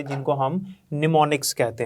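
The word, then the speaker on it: mnemonics: इसमें एम जो है ये साइलेंट होता है, आपने इसको निमोनिक्स पढ़ना है।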